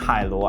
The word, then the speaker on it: Hailuo: can hear the sound of the ocean is pronounced Halo I'm Asian so you can trust me I